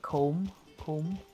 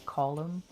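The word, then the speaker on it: Colm: right because um obviously in America they call it comb home but you know it's column so that's why he said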